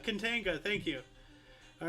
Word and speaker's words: Katanga: Katanaga? Katanaga. Katanaga. There's no A after the A. Katinga. Kantiga. Kantiga. Katanga Became part of the Katanga. Democratic Republic of Congo. Okay. Katanga. It's Katanga. Katanga.